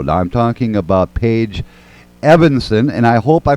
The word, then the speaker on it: Eavenson: Thank you so much, and you did a great job pronouncing Eavenson.